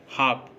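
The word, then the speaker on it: half: एफ से पहले, जैसे काफ, हाफ, इन वर्ड्स में देखिए एफ से पहले एल आया है और जब भी एफ से पहले अगर एल आएगा तब भी एल साइलेंट होगा।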